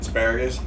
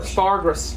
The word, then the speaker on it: asparagus: How do you say it? Asparagus? No, spargus. Spargus.